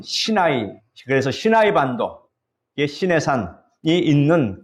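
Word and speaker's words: סיני: 우리가 호렙산을 다른 말로 시내산이라고도 부르는데 히브리어 발음으로는 신나이 그래서 신나이 반독 시내산이 있는 그 광야를 말합니다.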